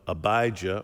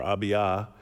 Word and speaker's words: Abijah: a priest and he's of the order of abijah or abiyah depending on how you pronounce it whether you anglicize it or not but he's of the